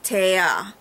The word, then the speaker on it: Taya: that, I would have to stop, go back and reread it and say, no, it's Taya, not T.